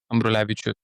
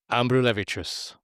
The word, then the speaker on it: Ambrulevičius: Ambrulevicius. Ambrulevicius.